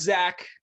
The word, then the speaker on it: Zack: so my name is zack it's a solid single syllable name for a white dude that's zach with an h z a c k that is a little